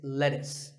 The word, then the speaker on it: lettuce: I know the spelling looks like it's let's use but it's not it's lettuce and since we're talking about